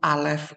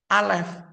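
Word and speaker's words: אלף: diucapkan dan bagaimana sebenarnya huruf alif itu ucapannya itu bisa hilang gitu doang ya gitu ya tipis tapi juga juga bisa alef begitu ya tapi dia soft pengucapannya itu bukan pengucapan yang Strong dan dia itu huruf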